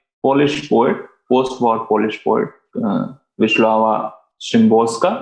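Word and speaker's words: Wisława: poet post-war polish poet vishlava shrimbolska it's a little difficult to uh you know pronounce our names maybe to our indian ice towns but normally i've heard people call her vishwawa she is also a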